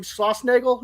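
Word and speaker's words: Schlossnagle: m and uh your old pal legit jim schlossnagel is that how you pronounce it yep so they did you dirty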